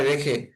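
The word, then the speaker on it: ر: তারপরে হরফের নাম হচ্ছে র। র। রটা একটু মোটা হবে, একটু মোটা করে উচ্চারণ হবে।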